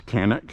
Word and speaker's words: Canik: I mean, I've been very impressed with the Chanik, which I guess is the correct pronunciation. The American one is Canik.